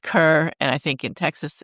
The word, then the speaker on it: Kerr: E R pronounced car, but I think everywhere else in the world it's pronounced Kerr. And I think in Texas, it's pronounced Kerr.